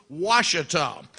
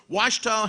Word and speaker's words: Ouachita: Now, there's only one undefeated team left in the Great American Conference, and that's 4-0 Ouachita. The Tigers, Coach, that's spelled O-U-A-C-H-I-T-A.